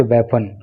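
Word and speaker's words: weapon: और ये sharp aged वेपन, तेज धार वाला हथियार, इसका प्रोनाउंसिएशन आप याद रखना, ये बीपन नहीं होता, इसको बोलते हैं वेपन।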